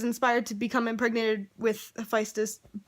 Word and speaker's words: Hephaestus: story the birth of Hephaestus side note i thought it was pronounced high-paced this just because latin pronunciation ph makes an aspirated p but no it's physis apparently so yes the